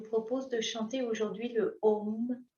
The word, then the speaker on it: Om: Vous pourrez mettre le son Om Le mantra Om, il y a 3 sons, 3 syllabes en fait. Non, 3 sons, le A, le O et le M.